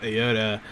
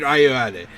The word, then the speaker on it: Ayoade: don't think Fable's going to be about Steve Aoda beating us up in his house. I don't think that's Richard Ayoade.